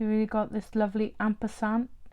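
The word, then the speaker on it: ampersand: really got this lovely Amper sand Amper sand is how you say it Amper sand um with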